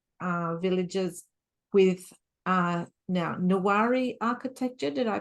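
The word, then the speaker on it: Newari: really really historic uh villages with uh now nari architecture did I pronounce that correctly yeah nari yes yeah yeah I I haven't been to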